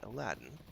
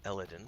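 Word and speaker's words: Elladan: thornham to turn into aladdin or illidan i should say i always mince pronounce his name let's see what he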